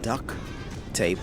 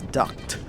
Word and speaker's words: duct tape: of rib him say no it's not duck tape like quack quack it's ducked like an air duct if